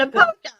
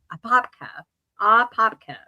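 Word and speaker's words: Apopka: A polka. I love that. I love that. Is it not a polka? Because it's A-P-O-P-K-A, a popka, a polka.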